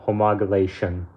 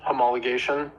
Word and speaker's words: homologation: about Randy's question on homogenation for the Mala snx um I've done homologation that's the correct pronunciation uh and this is